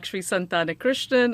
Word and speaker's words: Santhanakrishnan: So I can pronounce it for you, Paul. I would hope so. Hi, I'm Santhanakrishnan.